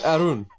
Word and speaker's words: Arun: It's Arun.